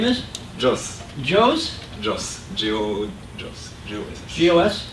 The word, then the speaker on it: Jos: Jos. Joe's? Jos. Jos. G-O-S-S. G-O-S? J-O-S. G-O-S-S. Joss.